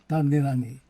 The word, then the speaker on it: Tagelagi: The last name is pronounced Tagelagi. Tagelagi.